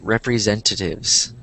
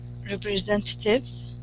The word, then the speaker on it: representatives: Yeah, representatives. There you go. I think I didn't hear the S at the end. And it sounded like you said representative.